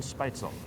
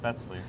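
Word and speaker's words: Spätzle: Uh part of the PECI entree is uh pork tenderloin and dion spicel. Yeah. Can you describe what a spicel is for our audience? Uh it's actually pronounced spetzley.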